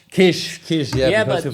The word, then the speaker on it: Kiss: How do I pronounce? Kish.